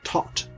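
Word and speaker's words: Thoth: that purports to hold the scroll of taut or the as he's it's sometimes called um tote is the the pronunciation that i'm gonna use um so we have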